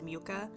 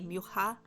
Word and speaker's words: Mucha: However, it is kind of difficult for my mouth to say Mucha, which is the more proper Czech pronunciation of his last name.